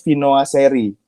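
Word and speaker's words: Viennoiserie: Jadi bacanya itu Vinoiserie.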